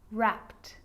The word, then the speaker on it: wrapped: But a lot of the time, that E isn't pronounced. Looked, asked, played, baked, wrapped.